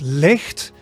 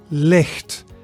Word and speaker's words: licht: So it is as in the Scottish loch, right? The monster of Loch Ness, right? So the sound. So you should feel it at the back of your mouth.